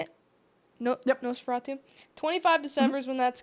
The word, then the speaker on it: Nosferatu: Nosferatu. 25 December is when that's coming out. It's basically a remake of the 1922 vampire film, and it should follow a similar plot. Mm-hmm. Nosferatu is a really good classic horror movie too.